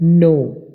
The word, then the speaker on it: know: 54 verb है नो, नो का मतलब है जानना। इसके स्पेलिंग देखिए KNOW, ये है नो। ये सिंपल NO वाला नो नहीं है, बल्कि KNOW वाला नो है, जिसका मतलब है जानना।